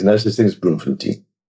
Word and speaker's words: Bloemfontein: Um I remember I remember people talking about Bloemfontein. I said, "No, no, no, no, it's Bloemfontein." There's no such thing as Bloemfontein.